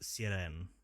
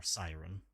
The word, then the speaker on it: sirène: In French it is pronounced sirène or siren.